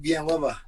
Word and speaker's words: Villanueva: Villanueva. There Yeah. we go. Not Villanueva. Villanueva, yeah. Villanueva's, you'll see it more Americanized, but back home, Villanueva. That's how they say it back home.